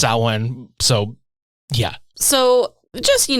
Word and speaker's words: Samhain: you been yeah again s Wayne not Sam Hayne if you want to talk about Sam Hayne go talk about Glen danzig's band Sam Hayne which was probably also actually pronounced saen so yeah so just